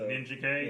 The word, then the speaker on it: Ninjak: with the release of ninjak super Killers Bob do you pronounce it ninjak or ninja K ninj okay I do too